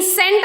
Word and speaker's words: scent: C is silent after the S. So here, signs. C comes after the S. And in scent also C comes after the S.